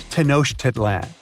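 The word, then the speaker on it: Tenochtitlan: It's Tanosh Tedlan. And Mayan cities are hard to pronounce too.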